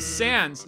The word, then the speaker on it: Sans: I'm Sans. Sans the skeleton. Get it? He uses Comic Sans as a font, so his name is Sans. Also, yes, I know it's pronounced sans because it's a French word, but I'm going to